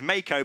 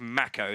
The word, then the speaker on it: Mako: I say Marco, he says Mako, but it's in fact Mako, so we're both wrong.